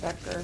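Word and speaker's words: Becher: It is Becker Becker says it's a K actually it's an H. It is on the back but they pronounce it Becker.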